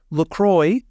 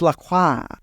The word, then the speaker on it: LaCroix: He is not “La-Croy” He is “La-Kwah”.